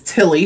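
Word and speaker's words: Ptilly: then this one is tilly spelt p-t-i-l-l-y kind of like pterodactyl where the p is silent so far i think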